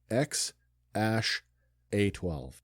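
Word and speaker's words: X Æ A-12: hyphen the number 12 so the actual pronunciation and this is from the mouth of the father this is not me making this up it's X Ash a12 a12 being the precursor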